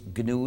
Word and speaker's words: GNU: GNU es un acrónimo recursivo que significa GNU no es Unix. En inglés, GNU is not Unix. En inglés se pronuncia GNU, pero en castellano es aceptable pronunciarlo como GNU, como si comenzara por ñ.